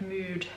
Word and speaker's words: Muud: I think that's how you pronounce it, because I think they're a Danish brand. So I think it's like Mood, but I'm sure people